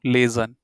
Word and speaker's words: lesen: If you don't know how to pronounce this one, laser, so just say laser of laser, yeah? And there is an N. So, lesen, yeah, z, lesen.